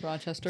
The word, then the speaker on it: Rochester: Rochester.